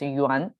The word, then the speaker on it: 缘: related to fabric and on the right side is pronunciation and so by itself it's a one but when combined with this it becomes yuan um i mean tuan